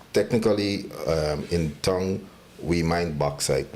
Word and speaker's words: bauxite: Bauxite is a Almost sounded like you're saying backside. So I was like, wait, what? oh, well, maybe it's my Guyanese accent. I don't know how to say it otherwise. You said it correctly.